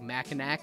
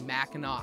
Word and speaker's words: Mackinac: it's spelled I think it would be like pronounced like Mackinac is like how it would be read properly but it's Mackinac Island so there's lots of these like Native